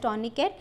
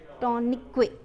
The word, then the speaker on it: tourniquet: A tourniquet, spelling of tourniquet, tourniquet. Okay, Tourniquet, tourniquet. Its T is silent, okay, tourniquet can be used.